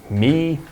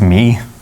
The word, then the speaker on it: Mie: And this work is attributed to Gustav Mie, Lennard-Jones. That's where the YouTube comments in. It's not pronounced me.